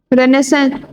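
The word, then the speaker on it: Renaissance: 16th, रेनेसेंस। वैसे रेनेसेंस, रेनेसेंस लिखा है, पर इसको रेनेसा कहेंगे, है ना।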